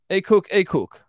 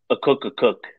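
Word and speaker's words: Akok Akok: Southeast Missouri State um but they bring in hey cook hey cook how do I pronounce this guy's name again a cook a cook yeah I cook a cook uh it's a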